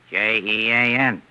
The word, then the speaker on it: Jean: J E A N. And how do you pronounce that in English?